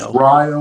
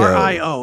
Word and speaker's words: Rio: It's Rio, West Virginia. Yeah, Rio. R-I-O. It's spelled like Rio, but it's Rio.